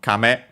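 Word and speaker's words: 亀: I think this one may actually be accent on the first syllable. We'll check and I think we have seen it before at least once in the previous okay accent on the first syllable. So kame high low and then it simply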